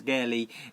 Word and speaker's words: keri: So, Geri, spelt with a K-E-R-I, but we use it nearly all the time as Geri with the G because it follows in with the combination as a kick.